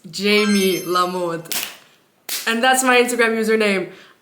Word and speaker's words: JamieLaMode: a m i e so instead of jam lamod it's Jamie lamod and that's my Instagram